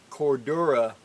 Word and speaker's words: Cordura: makes my Cordura see I said it right Cordura Blackbird haversacks she's the one that makes them